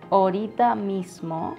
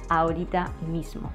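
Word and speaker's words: ahorita mismo: and some people say orita mismo instead of aurorita Miss small the thing is that they don't pronounce the a which the first letter of the first word so instead of saying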